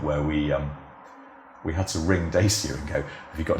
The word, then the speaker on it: Dacia: they were pronouncing it Dacia. Yeah, that's one of those things, it's very hard to know, because Dacia is how they say it in Romania, so that is the correct way of saying it.